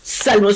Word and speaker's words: salmos: Dijimos salmos sin la P, no pronunciamos la P.